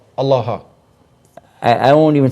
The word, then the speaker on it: Allah: said uh allaha allaha it's a different pronunciation because it wouldn't have the doubling or the shed on the lamp so it's kind of like a different dialect but the same word the same same word Allah allaha I I won't